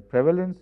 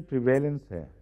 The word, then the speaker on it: prevalence: diseases is very low.’ Is it pronounced ‘prevalence’ or ‘prevailence’? Experts in pronunciation tell us, otherwise I will have to go and check myself. ‘Prevalent’ is said or is it ‘prevailant’. I pronounce it as prevalent. Exactly, that is why I am saying prevalence.